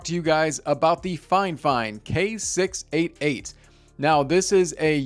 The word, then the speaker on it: Fifine: all let's get one thing clear fifeine is pronounced fine fine so don't look at me all crazy when